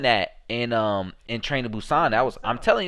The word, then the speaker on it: Busan: don't you know busan it's called busan apparently so so i guess american people pronounce it busan but it's a p sound busan jk and jimin are